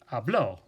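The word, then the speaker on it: habló: would be a blow now that's pronounced differently than saying ah blow which means I speak so because the accent mark is there it's important to emphasize that so you say Pablo Pablo he spoke okay instead of el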